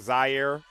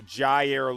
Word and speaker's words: Jair: So, guys, make sure I'm saying it correctly. I was saying Zaire. So, Jair Lewis.